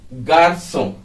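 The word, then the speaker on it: garçon: को बताया गया है की सी के नीचे जो घुमाओ होता है उसको उसका उच्चारण हम जो करते हैं वह होता है सांप जो की इंग्लिश के डबल एस के बराबर होता है लेकिन क्योंकि यह स्पेशल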